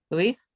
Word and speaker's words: Luis: Luis? Good. Yeah. Luis Ismael. That's the problem is, you're in France, you're going to say Louis.